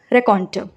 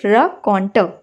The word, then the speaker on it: raconteur: Tailors are known as रेकॉन्टर. ठीक है. सो इट can pronunciation might seem difficult, but धीरे धीरे आप प्रैक्टिस करोगे सो it will come. It is pronounced as रकॉन्टर. ठीक है, रकॉन्टर.